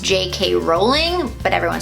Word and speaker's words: Rowling: Rowling, actually her name is pronounced J.K. Rowling, but everyone says Rowling.